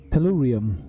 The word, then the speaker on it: tellurium: iam Tulum talena matte aluminum how do you pronounce it tellurium tanida tellurium okay we're on the lookout for